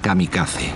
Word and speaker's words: kamikaze: con la armada invasora lo llamaron el viento divino que en japonés se pronuncia kamikaze ese sería el grito